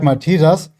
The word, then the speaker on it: Malteser: Oh, the Maltesers are good. Yeah, dude, I did this. Not with like Maltesers. You would call them like Malteser, by the way. This is like the German pronunciation, okay, Malteser.